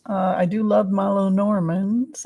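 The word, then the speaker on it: Lenormand: but let's use the lenorman uh cards uh I do love my Len Normans I've learned how to say it lenorman let's see uh if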